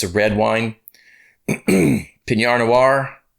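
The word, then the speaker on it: Pinot noir: it's a red wine pinar noir that's how you pronounce it i'm not a big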